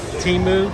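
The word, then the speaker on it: Temu: some fancymancy company called uh how do you pronounce it? Timu tu m.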